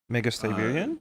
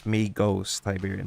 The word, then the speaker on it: Magos Tiberian: Uh, Mega Siberian? Magus. Yeah. No. My name is Oh, actually. it's not. Otherwise, I would spell the Magus. I would spell it with an O, not a U. So it's Magos Tiberian.